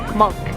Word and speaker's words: Munch: k-o-i-e ramen um in we think it's monk like there's a um museum that's spelled munch m-u-n-c-h yes tells me it's probably monk uh what'd you think